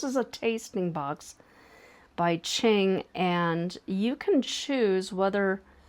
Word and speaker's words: Qing: It's Qing, like the dynasty.